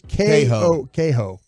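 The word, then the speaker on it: Kohou: It's Kaho.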